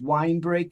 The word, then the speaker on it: Winebrake: so the name of the law firm is wine break and santillo and my name is spelled w-i-n-e-b-r-a-k-e and our and our website is